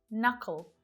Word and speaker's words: knuckle: get started with, but there are several common English words that have a silent letter K. And notice that it always happens before an N.